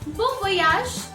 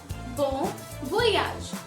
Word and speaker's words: bon voyage: Next one that we have is Bon voyage. Bon voyage, which means happy journey. Bon voyage.